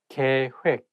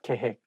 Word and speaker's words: 계획: I think when it has double vowel like OE of 획, it's not hek, it has to be 획. That is the one making this word not easy to pronounce. So make sure that you say 계획, not 계획.